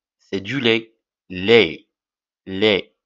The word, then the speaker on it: lait: baignier c'est quoi le lait c'est du lait lait lait l a I t alors t ne se prononce pas l en pron seulement